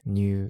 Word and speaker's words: にゅう: enter come into join it is pronounced rule in modern chinese new in japanese and in korean interestingly these different pronunciations all descend from the middle chinese the trick is to realize that the initial consonant can develop into n r or simply disappear we get the modern